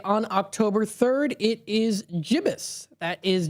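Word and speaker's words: gibbous: It is jibus. That is g i bb o u s. jibus.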